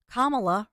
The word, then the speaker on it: Kamala: The Campaign Headquarters as Kamala rhymes with mamala and that's what the